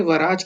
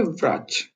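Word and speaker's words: врач: ये वराज की जगह व्राज की तरह प्रोनाउंस होता है, जैसे कि व्राज को आप जल्दबाजी में बोलते हो व्राज हो जाएगा, व्राज, वराज, व्राज। तो ये व्राज हो जाता है।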